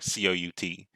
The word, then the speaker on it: cout: The identifier COUT, pronounced cout, is actually an object.